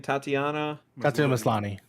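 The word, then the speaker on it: Tatiana Maslany: see how this goes and how do you pronounce the lead actress's name again tatiana mislani okay and she's great she's also good eric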